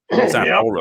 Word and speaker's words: Sapporo: Is that how you pronounce it? Sapporo.